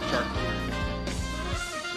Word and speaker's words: charcuterie: Yeah, I think it's charcuterie.